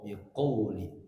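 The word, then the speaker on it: بقول: Qo bukan ka. Biqo, biqauli.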